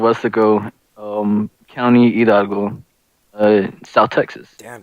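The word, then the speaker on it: Weslaco: We're from a small town called West Laco. Westlaco, dumbass. What kind of fucking pronunciation was that?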